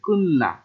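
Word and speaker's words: 끝나: আর এখানে লেখা আছে কুতনা কিন্তু উচ্চারণ হবে কুন্না, লেখা আছে কুতনা উচ্চারণ হবে কুন্না, যেহেতু তবাচ্চিমের পর ন আসলে তবাচ্চিম নয় নতুন উচ্চারণ হয় কুন্না।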